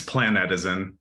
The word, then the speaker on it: Planetizen: pronounce the name and its plan that is in uh it's a combination of planet and plan and netizen because we uh the